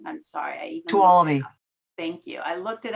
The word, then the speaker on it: Tuolumne: on Alpine, Amador, Calaveras, Inyo, Mariposa, Mono, and Tulum. And I know I pronounced that wrong. I'm sorry. Tuolumne.